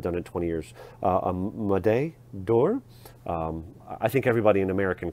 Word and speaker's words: Médaille d'Or: Médaille d'Or.